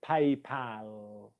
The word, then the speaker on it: PayPal: how you pronounce it paypal okay so that's the word pal um nurse just asked can